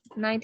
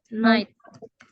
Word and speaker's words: night: Ya, kayak tadi night ya. Night itu cara bacanya night. Itu versi American. Kalau versi British cara bacanya gini, night.